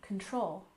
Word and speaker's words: control: we have gun control we stress the second syllable in control control altoe gun control